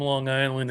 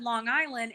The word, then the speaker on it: Long Island: I know this because you said Long Island and you didn't say Long Island Long Island yes yes you didn't say the hard G you're not alone yeah